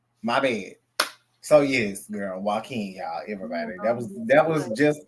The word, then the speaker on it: Joaquin: I seen Jaquan. My bad. So yes, girl, Joaquin, y'all, everybody.